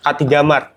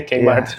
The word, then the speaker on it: Kmart: Buat orang Bandung mungkin nggak tahu Kmart, K3 Mart. K3 Mart. Aku aja baru tahu itu dibacanya Kmart.